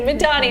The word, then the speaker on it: Madani: Madani.